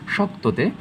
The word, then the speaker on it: শক্ত: যেমন থাকতে পারে যে এই শক্ততে শক্ত, শক্ত কতে ধাক্কা খেয়েছে, তাই আমরা কি কয়ের নিচে হসন্ত দিয়েছি।